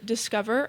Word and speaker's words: DSCXVER: Ours would be called Discover, kind of spelled DSCXVER, a play on of the app's name and how it's spelled, Concept.